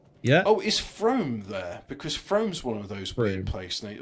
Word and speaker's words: Frome: I know it's supposed to be pronounced Froome, but it's like, look, it's from E.